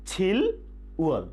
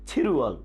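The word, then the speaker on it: 칠월: তাহলে আমরা জুলাই মাসটা কিভাবে বলবো? ইয়েস, ছিল উয়ল, কিন্তু উচ্চারণ হবে ছিরুয়ল, ছিরুয়ল, ছিরুয়ল জুলাই মাস।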